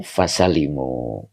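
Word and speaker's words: فَسَلِمُوا: Ammal anbiyau fasalimu. Nah tadi yang benar ini ya. Fasalimu. Ini mujarad bacanya.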